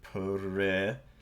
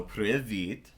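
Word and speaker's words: привіт: So if you pronounced it privit, so privit, and you could use that for these different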